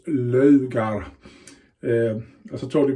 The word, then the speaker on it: Laugar: the logo of sweden not laoghar it's logar um as i told